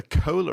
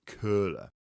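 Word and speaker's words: Köhler: Um but have you have you heard about the the cola effect? No. Now it's not as in Coca-Cola. It's K O H L E R. Maybe in Germany pronounc it curler.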